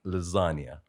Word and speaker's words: lasagna: Real G's move in silence like lasagna. So you're talking about the silent G and lasagna?